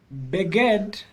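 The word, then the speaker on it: בגד: Beged. So this is an example of two short vowels where you'll accent the syllable before the last syllable.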